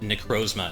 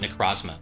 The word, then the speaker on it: Necrozma: Sun trailer was that you pronounce it necrozma and not necros I I Haven been saying necros forever necros no that's how